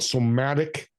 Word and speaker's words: somatic: Is it somatic therapy?